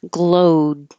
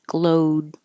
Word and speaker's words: glowed: Glowed. Just hold that D. Glowed.